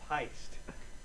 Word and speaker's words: Pyst: It's pronounced Pyst. Okay? It's pronounced Pyst.